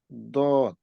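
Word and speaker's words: ضاد: দদ লেটারটা একটু কঠিন উচ্চারণ করা, সেটা হলো আম, সামনের এটা কি বলে, আপনার জিহ্বার যে কোনো এক সাইড, সাধারণত আমরা ডান সাইড করতে পারি, সেই ডান সাইডটা আপনার উপরের দাঁতের মাড়ির দাঁতের সাথে লাগায়া উচ্চারিত হবে।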